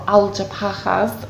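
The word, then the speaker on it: Alpujarras: Yeah, you're right on the edge of the Algeparas, or Algeparas as they pronounce in Spain, and again that is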